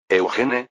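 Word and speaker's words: Eugène: Eugene, la pronunciación francesa de Eugene.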